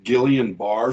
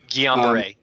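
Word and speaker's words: Guillain-Barré: years ago and he suffered from i may pronounce this wrong gillian barr syndrome guillain-barre yeah okay thank you um and the doctor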